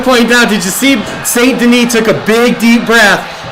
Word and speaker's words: Saint Denis: Saint Denis. Saint Denis.